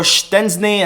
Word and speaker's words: Szczęsny: Now, beginning this video with the news that Szczesny or Szczęsny, as it's correctly pronounced, apparently, I think I've gotten the confirmation